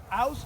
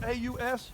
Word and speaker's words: Aus: Aus, A-U-S, is for him to turn it loose.